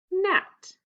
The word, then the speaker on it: gnat: Which letter is silent? The G. What's the word? Gnat.